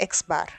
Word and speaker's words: x̅: sample mean is indicated by the symbol x̅ (pronounced X-bar).